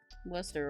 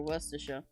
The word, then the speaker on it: Worcester: Yeah, that is how you pronounce it, Block Emerald. Worcester or Worcestershire.